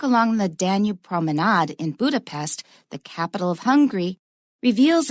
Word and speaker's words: Budapest: make Budapest except that s in Hungarian is pronounced sure so it's actually Budapest oh that's what the showing idea when the